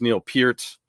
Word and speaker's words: Peart: I know that it's Neil Peart.